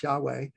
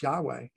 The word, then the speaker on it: Yahweh: So the fear of the Lord, and we remember also this word Lord in the Hebrew is spelled Yahweh, Y-H-W-H, without vowels, Yahweh.